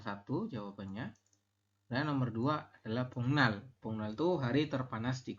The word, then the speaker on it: 복날: bongnal ya b bongmal tulisannya boknal tapi kita membacanya bongnal bongnal itu hari apa